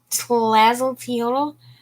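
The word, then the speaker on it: Tlazolteotl: going to go with lazzo teal teal yeah slazzle teal for sure we don't pronounce all those letters okay i'm not gonna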